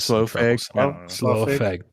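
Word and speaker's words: Slough: Lord weird, how it's lo, how do you pronounce that? I have slow.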